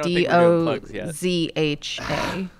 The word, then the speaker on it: Doja: Dozha, Oh, Docha. which is not how you pronounce her name.